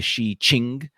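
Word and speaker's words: Shijing: Uh, there are references in to this in this work called the Classic of Poetry, or the Shi Jing, or the Shi Qing, as it's pronounced, also called the Book of Songs, the Book of Odes, or poetry, as Wikipedia says.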